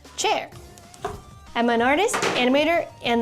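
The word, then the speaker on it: Qier: Hi, I'm Chairwang, spelled Q I E R, pronounced chair.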